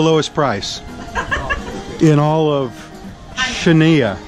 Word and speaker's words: Chania: price in all of chenia CHA and ha the x is a CH s wait a minute ha that's how you say it that's how you okay